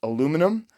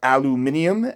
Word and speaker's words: aluminium: They had a USA custom shop model that was aluminum, or aluminium, as they say here in England. Both correct, by the way.